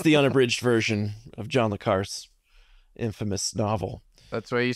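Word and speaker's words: John le Carré: a bridged version of John L car's Infamous novel that's why you say his name I don't know John L Car how do you say it John leare is how leare okay I thought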